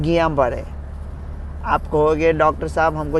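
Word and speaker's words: Guillain-Barré: वो अभी जो न्यूज़ में है ना, GUILLAINBARRE, उसका सही उच्चारण है गियाबारे।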